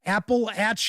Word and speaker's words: Appalachia: So, it's the first thing to know is how to pronounce it. It's apple at like throwing an apple at you.